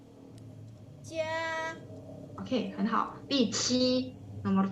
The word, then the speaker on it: 加: 加。 Oke, 很好。第7 nomor 7。请。请，对。加。请, jadi jelas ya, 加 bacanya C, Q bacanya CH ya.